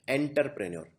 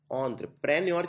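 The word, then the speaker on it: entrepreneur: एंटरप्रेन्योर लिखने के लिए ऑन्ट्र, इसको आप, एक कॉमन मिस्टेक ये है एंटरप्रेन्योर, कई लोग लिखते हैं एंटरप्रेन्योर, नहीं, ये एंटर नहीं है, इसको बोलते हैं ऑन्ट्र। ऑन्ट्र प्रेन्योर की स्पेलिंग रिलेटिवली आसान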